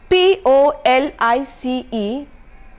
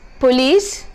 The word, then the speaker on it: police: It is to be pronounced as salon and not saloon. POLICE is police and not police.